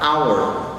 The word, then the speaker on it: hour: Noten que acá la H es muda, se pronuncia esta palabra hour y el sonido inicial es una hour.